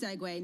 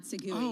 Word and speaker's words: segue: had kids are listening it's pronounced segway not segue because there's some people